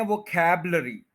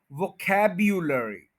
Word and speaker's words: vocabulary: देखें इसमें ये जो यू है ये नहीं बोला जा रहा, तो ये यू जो है यहां पे इसकी प्रोनाउंसिएशन दी हुई है, वो खैबलरी। अगर आप इस यू को बोलेंगे तो ये बन जाएगा वोकैब्युलरी।